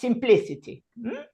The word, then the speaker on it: simplicity: In this case, we have 3 I in this word, and it is pronounced simplicity.